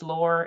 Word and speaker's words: Laura: It's Laura. It rhymes with for and door.